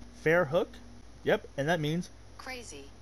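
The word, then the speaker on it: Verrückt: I was veru once I've been pronouncing ver wrong the whole time what ver hook Fair hook yep and that means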